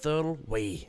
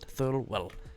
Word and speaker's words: Thirlway: Laura Thirlway, not Thirlwell.